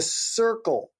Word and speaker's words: Curql: brought to life by the circle fund that's spelled c-u-r-q-l fund Brian shares his insights